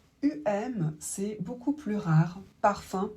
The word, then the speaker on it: parfum: Parfum, par exemple, se prononce 1.